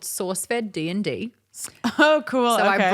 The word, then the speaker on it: SourceFed: It was called, for them, it was called SourceFed D&D. Oh, cool. So I brought this like sort of D&D. Not sauce fed, like saucy. No, like source. Yeah. With an R that I don't say or pronounce.